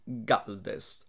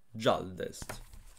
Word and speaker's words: Gjaldest: 9, nel regno dei Galdest o dei Gialdest. Come cazzo si pronuncia? So che mi avete detto che si pronuncia con la G dura, eh.